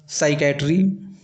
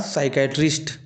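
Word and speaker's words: psychiatry: उसी प्रकार साइकेट्री साइकेट्री इसमें भी देखिए पी साइलेंट है। उसी प्रकार साइकेट्रिस्ट ये सभी इंपॉर्टेंट कैटेगरी के वर्ड्स हैं।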